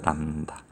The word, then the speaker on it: 람다: 파장이라고 해서 많이 쓰기 때문에 이런 한자에 들어갈 립처럼 쓰고 읽을 때는 람다라고 읽어요. 람다.